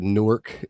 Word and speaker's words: Newark: I'll say that Newark is correct.